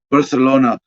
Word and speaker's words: Barcelona: asina uh well a barcelona politician i guess i suppose i suppose i should be using proper spanish pronunciation barcelona yeah the lisp thing oh my gosh uh